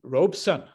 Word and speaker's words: Robeson: one is lounging around a robe and son he said signifies the male child of the family and so the pronunciation of my name he says is robeson so paul robeson is